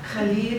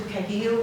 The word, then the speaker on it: Khalil: I wanted to preface my talk by saying I have chosen throughout this talk to use the proper Arabic pronunciation of his name and transliteration, Khalil, which means honorable, as opposed to Kahlil, which is, I guess, the American anglicization of his name.